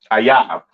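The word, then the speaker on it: אויב: Ayab. Okay, that is how you pronounce enemy.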